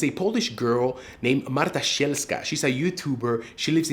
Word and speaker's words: Sielska: Marta, I've been pronouncing your last name in my head as Sielska. It's Sielska, I assume, right? Sielska.